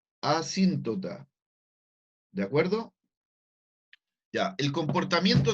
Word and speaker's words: asíntota: la función tiene un comportamiento de asíntota, con acento en la I. Por si acaso no lo quedó claro el nombre, ese es asíntota.